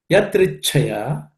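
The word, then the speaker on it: यदृच्छया: The first word, yadrichaya, the third letter, icha, is a compound consonant. There are two chas. The first one is unaspirated cha, the second one is aspirated.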